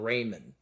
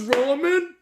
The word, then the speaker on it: ramen: was doing it because he pronounces them Raymond. I'm not mispronouncing it. I know it's ramen noodles, guys. Like, oh, it's ramen.